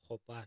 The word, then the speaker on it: Gopane: But how do you pronounce go or go? Gopane. Gopane because rena go ya rena ke KG.